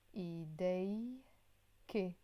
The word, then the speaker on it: ideike: We remove the noon and we say ideke. We will not pronounce it even ideke. This e that usually is pronounced the ye here, which we're usually pronouncing as e, goes back to being pronounced as ye, ideike.